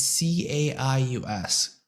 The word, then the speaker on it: Caius: It's like it's C A I U S.